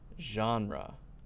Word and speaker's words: genre: Correct pronunciation is genre.